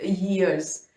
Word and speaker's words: years: Okay, इसकी pronunciation check कीजिए, यहाँ पे य आएगा, या का sound. It इज नॉट ईयर, ईयर ये होता है, दिस इज ईयर्स।